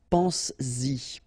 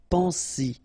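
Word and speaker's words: penses-y: But then if you put this Y, so this pronoun after, then you will have to put back this S, just to produce it orally, because you will pronounce it pense-y, pense-y, okay?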